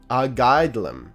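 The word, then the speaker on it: Airgetlám: Pronounced Argaidlam, okay, was the High King of the She.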